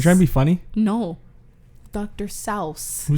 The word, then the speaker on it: Seuss: do you know that his name is not dr. Seuss what is it dr. selfs what doctor you try to be funny no dr. salves who says that that's how it's his name